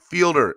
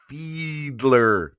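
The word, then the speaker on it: Fiedler: a beast a beach it's fielder not fielder pronounced like feedler feedler thank you andrevius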